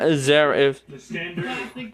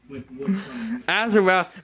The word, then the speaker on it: Azarath: It's not Azareth. Mentio Zent. What are you thinking? I mean, I know. Zento. Azarath, Mentio, Zentos.